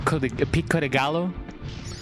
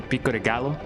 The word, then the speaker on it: pico de gallo: It it is it it is kind of as funny as when people say when people try to pronounce pico deayon as pic picallo.